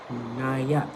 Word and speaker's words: Nia: Yes, my name is spelled like Nia Long. Okay. But it's pronounced Naya, okay? Don't get my daughter's name messed up. Naya.